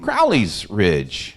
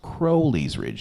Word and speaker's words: Crowley's Ridge: uh it was uh something to do with Crowley's Ridge except I pronounced it Crowley's Ridge you're not the only one phone rings a little bit after that and it was our then business manager Debbie cross and Debbie says now sker she said I know you're new to the area but I just thought you should know it's pronounced Crowley's Ridge not Crowley's Ridge thank you Debbie thank